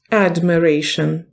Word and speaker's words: admiration: Admiration. Дається на перший склад наголос. Так, admiration. Admiration.